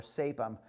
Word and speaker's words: Sapim: Some people will tell you that it's pronounced Sapim or Sapim, but I know the name of the guy that owns the company, and I've been to his factory in Belgium, and he pronounces it Sapim, so that's good enough for me.